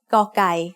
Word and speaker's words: กอไก่: The sound of กอไก่ as the initial consonant of a syllable is g. It is very similar to a hard G or an unaspirated K.